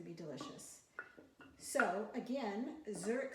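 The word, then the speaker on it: Żurek: So again, Zurek Soup, which is not spelled like the city.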